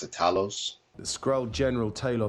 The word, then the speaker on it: Talos: to pronounce it call it tables but I pronounce the Talos this grow general title says anyways yeah he